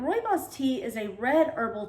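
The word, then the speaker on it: rooibos: word looks like rooney bose but it's roibos and roy boss tea is a red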